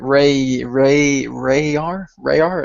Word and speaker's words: Rayar: And I was kind of going like Rayar, is that it, right? Yes, Rayar, right?